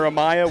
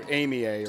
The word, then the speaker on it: Amaya: we're going off that Shane Edson is calling her Amaya we're going to back that off I would be the the idiot that would call her Amia or something I that I mean